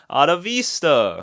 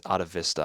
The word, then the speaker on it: Atavista: Actually, it's Atavista. I've been saying Atavista in this video because I don't know why, it just looks like that's the right way to say it, but nah, in the title track he says Atavista, so I was wrong.